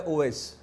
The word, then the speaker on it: اویس: नाम नहीं है हां अगर आवेश को अगर अवस पढ़ा जाए तो उसका मतलब होता है भेड़िया अच्छा भेड़िया इंग्लिश में अच्छा तो असल है ओवस जी ओवैस इंग्लिश में इसकी स्पेलिंग बनेगी ओ वी ओ डब्ल्यू ए आई एस ओ डब्ल्यू ए आई